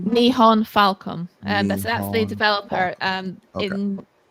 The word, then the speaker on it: Nihon Falcom: Nihon, how do you pronounce it? Nihon Falcon? Nihon Falcom.